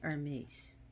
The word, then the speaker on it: Hermes: And you notice how I said Hermes? Because the H in Greece is not pronounced. Here, like everyone else, they like to say Hermes, but it's really Hermes.